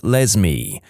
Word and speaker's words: Lesme: My mom is a public school librarian and the cringiest name she's encountered so far is a girl named Lesme, pronounced like Leslie but with an M.